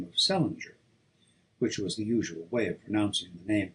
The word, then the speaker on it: St. Ledger: of the name of Celinger, which was the usual way of pronouncing the name of Salier, or as they spelled it, St. Ledger, restored by later generations to the still older form. He was a reckless daredevil